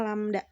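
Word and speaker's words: lambda: ini ya lamda lamda bacanya lamda eh hurufnya seperti itu dibacanya lamda lamda adalah panjang satu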